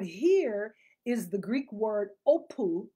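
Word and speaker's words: ὅπου: That word here is the Greek word opu. It's spelled O-P-O-U.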